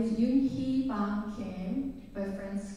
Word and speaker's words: Younhee: My name is Younhee Kim, but friends call me Yuni or Younhee. Younhee is more accurate pronunciation, though.